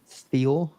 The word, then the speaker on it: Thiaw: How do you pronounce this new guy? Thiaw.